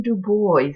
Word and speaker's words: Du Bois: My name is Du Bois. That's spelled pronounced B-O-Y-Z.